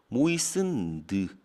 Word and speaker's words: moistened: moisten이 아니에요. t는 발음이 안 나. moistened.